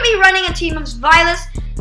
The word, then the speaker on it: Zweilous: And by the way, it's Zweilous, not Zweilous or whatever, because I watch JR Skater's pronunciation, and that's how I'm smart.